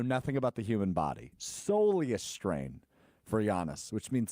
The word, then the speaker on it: soleus: And turns out it's a soleus, not solus.